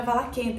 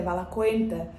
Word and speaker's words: Valaquenta: No meu vídeo do Valaquenta, não é Valaquenta, é Valaquenta.